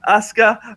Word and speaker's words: Asuka: I pronounced it right this time. Yeah, Asuka.